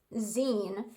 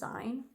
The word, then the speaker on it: zine: And I actually discovered it's pronounced zine, which makes sense because it's short for magazine. I'd heard of the term before, but I always pronounced it as zine.